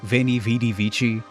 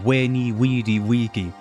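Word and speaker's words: veni, vidi, vici: forgot got is uh veni vidi vichi the quote from Julius Caesar he didn't say veni vidi vichi he said weni widiki traditional English pronunciation of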